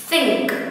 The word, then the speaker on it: think: Ví dụ cô có từ think, think, mình không đọc là sing, em không đọc là think.